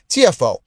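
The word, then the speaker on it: Tiafoe: The the amazing US uh tennis player pronounced that's his nickname, T I A F O E. TFO.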